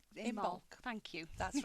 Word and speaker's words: Imbolc: It's Imbolc. Imbolc. Thank you. That's right. Told you my pronunciation You won't can be tell good.